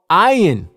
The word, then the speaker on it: ayin: and the vowel letters, the original sound this letter makes is I. Even today in modern Hebrew, this letter is called ayin. You can clearly hear the I sound at the beginning of the word, ayin.